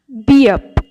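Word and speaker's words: 비읍: এরপর আসি বিয়প। বিয়প কখনো ভ, কখনো ব, কখনো প, কখনো ফ, এই চারটেরই উচ্চারণ হয় বিয়পের থেকে।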